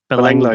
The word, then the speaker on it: Belanglo: How do you pronounce it? Belanglo? Belanglo, yeah.